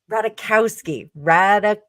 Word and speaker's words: Ratajkowski: Harry Styles is currently performing in Japan and was spotted smooching the ever gorgeous Emily Ratajkowski. I can never say her name right. Ratajkowski.